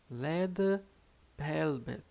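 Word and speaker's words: 레드벨벳: Como é que a gente pronuncia Red Velvet em coreano? Vai ficar Leda Velvet, Leda Velvet, Leda Velvet, Leda Velvet.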